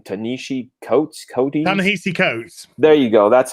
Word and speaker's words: Ta-Nehisi Coates: It's like you had posted that, I don't know how you say the dude's name, Ta-Nehisi Coates.